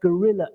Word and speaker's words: gorilla: syllable animal stress yes when we say gorilla the stress emphasis is on the second syllable and it's the REE is on the on the beat so once more three